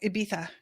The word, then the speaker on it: Ibiza: And Jen says legit Spain pronunciation. Luis says it's not supposed to be so hard. It's the Spanish lisp. So Ibiza.